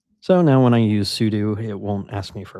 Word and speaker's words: sudo: Uh, pseudo sudo. I always pronounce a pseudo show wrong, but sudo show didn't sound right.